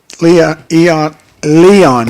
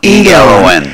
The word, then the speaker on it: Elon: Leon, is that how you pronounce Elon, E-L-O-N, Elon.